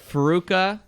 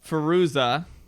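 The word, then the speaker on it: Fairuza: say it right god damn it all right farooka what's that right farouza perusa bulk salt did i say it right that time no farooza peruza yes bulk that's right she was a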